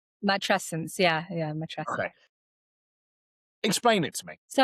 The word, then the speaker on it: matrescence: And I think the feeling was match scene. Is that right? Is that how you say it? Matrescence.